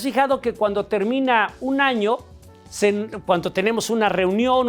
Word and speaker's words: año: nosotros la pronunciamos, el fonema es, entonces nosotros decimos año, no año, ano, sino año. Bueno, pues entonces es in ano en latín y de este ocabuinaldo. ¿Te has fijado que cuando termina un año se cuando tenemos una